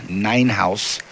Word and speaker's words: Ninhuis: On your right in the blue, Garrett Ninhouse, spelled Ninhuis. My partner and I were looking at that when we got our match notes earlier in the week, and we instantly went to our pronunciation guide, Ninhouse.